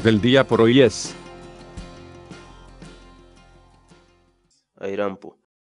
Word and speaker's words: ayrampu: de vídeos en la que te enseñamos a pronunciar algunas palabras en quechua así que nuestra palabra del día por hoy es airam pu airam pu airam pu la palabra quechua en español significa airam bo